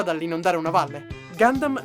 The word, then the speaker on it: Gundam: non dare una valle gandan viene quindi pronunciato come le sue parole di origine nel resto del mondo naturalmente non sto dicendo che non dovete mai più chiamarlo conta una dopotutto è ormai conosciuto